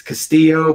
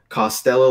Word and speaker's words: Castillo: an es oh man my last name has been butchered for centuries its Castillo but I've heard Costello like Elvis Costello that's what I would think Tana yeah Castille Castle it's just oh it's all over the place yeah first is our